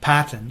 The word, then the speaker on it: Paton: But my name is, my family pronounces my name Patton, even though it's spelt and should be pronounced Peyton.